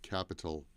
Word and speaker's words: capital: And the T in capital sounds more like a D.